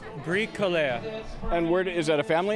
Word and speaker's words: Bricoleur: Well, what is the proper pronunciation? Bricoleur.